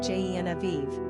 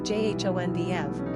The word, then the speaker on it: Genevieve: And depending on your allegiance, you can either pronounce the name Genevieve, like the English, or Jonvieve, like the French.